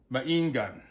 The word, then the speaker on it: Maingan: So you sound it out, it's ma, that's short A, in, then gun. Maingan.